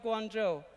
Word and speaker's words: Guangzhou: Guangzhou is in the Chinese pronunciation, Pinyin, Mandarin Chinese. Before I go to the story of Guangzhou, I'd like to have you, enjoy the video.